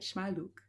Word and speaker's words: Shmayluk: the charismatic voice everyone I am with Tatiana shaluk I think I said that right shaluk yeah perfect we just had a coaching session